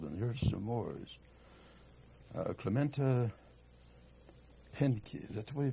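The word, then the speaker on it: Pinckney: Clementa Pinky, is that the way you pronounce that? Pinky.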